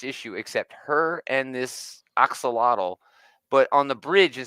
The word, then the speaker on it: axolotl: Axolotl. Axolotl, yeah, called Lottie, and they're walking around looking for fresh water.